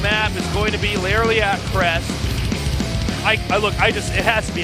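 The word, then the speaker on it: Lerilak: How do you say it? It's Laralac Crest.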